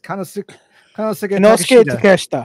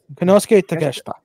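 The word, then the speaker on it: Konosuke Takeshita: Kanosuke, the proper pronunciation of his name. Bullshit. Kanosuke Takeshita. Shut up. Kanosuke Takeshita. Takeshita? Okay. Not take a shit.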